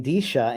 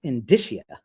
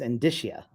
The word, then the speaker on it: indicia: in D yeah see you guys are all singing disha and Daisha and disha it's indicia look it up it's indicia indicia I love in uh